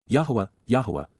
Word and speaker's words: Yahowah: Yahowah, the proper pronunciation of Yahowah, God's personal and proper name